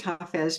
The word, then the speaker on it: Hafiz: I know it's pronounced Hafiz because I got to know the main translator of Hafiz, Daniel Ladinsky, over time.